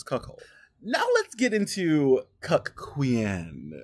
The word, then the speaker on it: cuckquean: now let's get into cck Quan is how I'm pronouncing it because you have to make it distinct from the C queen as we talked about